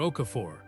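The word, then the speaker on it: Okafor: Okaor," he said, and his pronunciation was perfect. the emphasis on the second syllable, the R at the end of Okaphor, given its full presence rather than swallowed or approximated.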